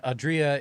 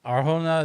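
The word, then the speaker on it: Adria Arjona: So uh the main stress in Adria is the A and for Arona the main stress is the jo O and the J is of course pronounced with an H like home in Spanish.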